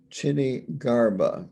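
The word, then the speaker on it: Kshitigarbha: his main bodhisattva is this is difficult to pronounce correctly maybe i should spell it k s h i t i g a r b h a chinny garba is hopefully a close pronunciation correct pronunciation to that name so that is his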